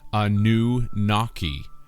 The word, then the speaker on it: Anunnaki: the spirit of water anunnaki is phonetically a new naki or a new water